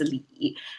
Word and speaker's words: 理: That pronounced as li.